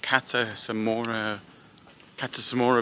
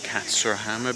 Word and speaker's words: Katsurahama: Sorry, the pronunciation is Katsurahama Beach, and we're up with a statue of this famous guy here called Sakamoto Ryoma.